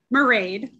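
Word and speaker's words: Mairead: Mayred, and I know it rhymes with parade, but sorry. It's okay, it happens all the time. One more time for us. Marade. Yep, thank you. So I'm Marade.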